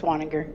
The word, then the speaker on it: Waniger: is it Waniger? Is that pronounced correctly? Yes, it's Waniger.